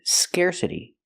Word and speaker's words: scarcity: Pronunciation, scarcity. Use the air sound like hair and chair, scarce. Scarcity. We hear the T pronounced like a fast D because it's between vowels.